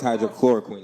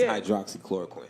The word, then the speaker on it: hydroxychloroquine: i'm saying now i've it says hydrochloroquine yeah but it's hydroxychloroquine yes hydroxyl now that